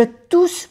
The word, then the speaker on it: tousse: Je tousse beaucoup. Tousse. Se pronuncia bien la S, porque hay dos, pero no se pronuncia la E.